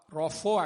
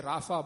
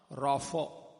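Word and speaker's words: רָפָא: Rapho actually. We say Rapha, but actually it's pronounced Rapho.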